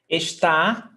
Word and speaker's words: está: So we've got está, estamos. Quinto, what is the stressed syllable in está? Ah, Tá. tá. So it's the last syllable. It's oxytona. And oxytonas ending in A, they must have the accent.